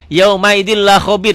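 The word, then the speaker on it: يَوْمَئِذٍ لَّخَبِيرٌ: Yauma idin la khabir dibacanya jadi yauma idin, ditulisnya dibacanya n-nya jadi hilang.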